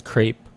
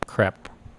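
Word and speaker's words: crêpe: right and yeah it according to how to pronounce it's crepe ah say yeah yeah because here I just got used to calling it crap that's crap well I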